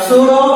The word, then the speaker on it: pseudo: Next we go for the pseudo first order reaction. What's it? Pseudo. The P is a silent. P is silent.